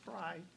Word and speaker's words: Frey: And Brett, the name is Fry, even though it's spelled Frey.